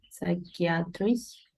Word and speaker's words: psychiatrist: it's just psychology we don't say psychology no pronounce the second one please um psychiatrist psychiat psychiatrist yeah yes psychiatrist look at the